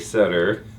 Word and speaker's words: Sutter: Side with Miss Sutter. Thank you. Thank you for saying my name correctly. And that is Sutter like butter with an S. See, Sutter like butter with an S.